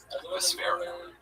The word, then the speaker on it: Vespera: Vesper with an A at the end. Wow, that's a Vesper. Vespera.